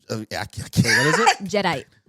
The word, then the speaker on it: Jadeite: Jedi. It's not Jadeite. No, Jedi. Like a Jedi, but Jedite.